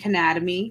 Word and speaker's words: Cannademy: out cannabis Sherry and Canada me can you spell that for us and let me yeah it's like Academy but Anatomy c-a-n-n-a-d-e-m-y okay perfect and I